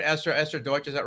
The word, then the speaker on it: Esther Deutsch: welcome our guest uh esther deutsch should i pronounce the last name right esther esther deutsch is that right perfect yeah thanks so much